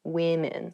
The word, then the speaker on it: women: Even though the uh the singular and the plural form of women and woman have the same spelling at the beginning, w the pronunciations are different. Woman women. So watch out for that when you say this pretty woman.